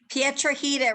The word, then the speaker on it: Piedrahita: can't remember it now Pietra heater rhymes with Margarita yeah yeah but what